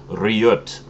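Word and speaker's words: Riget: for me uh correcting my pronunciation I'd been pronouncing it re all this time and apparently that's completely wrong but it's actually pronounced rot and um what Riot is is basically what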